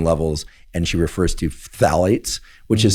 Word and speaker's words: phthalates: And she refers to phthalates, which is spelled P. So it's both a plosive and a th. So it's combining the two.